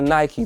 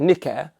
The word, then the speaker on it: Nike: so wrong and yes i said nike because that's how it's pronounced or i could be very rubber if i want to and call it nikkei but we're not going